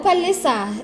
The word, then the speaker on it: Palesa: How do they It's pronounce like- your name that side? It's normal, Palesa.